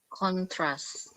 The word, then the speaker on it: contrast: If it is a verb, it is always the same rule: down intonation to upper intonation. So you have to stress on the second part of the word. Okay, like another word I'm writing. Yeah. Can you see this word? Yes. Contrast. Contrast. Contrast, like concoct.